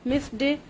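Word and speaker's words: missed: Pronunciation किस तरह से होगी, ये वर्ब्स जिनको हम पढ़ते हैं, cooked, hoped, मिस्ड, washed, laughed, washed, तो ये वर्ब्स इस तरह से नहीं प्रोनाउंस किए जाते हैं।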